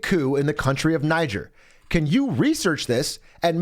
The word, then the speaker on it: Niger: Niger. Excellent. Now we've got our pronunciation.